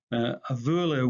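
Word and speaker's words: a' bhuaile: A vuale with the definite article would have sounded to Scots speakers much like a wheelie.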